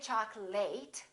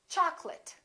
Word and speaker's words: chocolate: say chocolate I remember don't say choc'late it's chocolate I'd like some chocolate in this next word